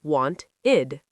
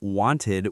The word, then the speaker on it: wanted: Wanted equals want-id. Needed equals need-id. Started equals start-id. Mind blown. I've been saying wanted with a strong ed my whole life.